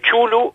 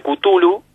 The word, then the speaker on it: Cthulhu: de Chulu o de Cthulhu, vamos a encontrar pronunciaciones por todos lados. Es una palabra que se escribe CTH-ULJU, Tulju, ¿no? Y ahí cada uno, algunos prefieren llamarlo Chulu, otros Cthulhu, bueno, cada uno, sí.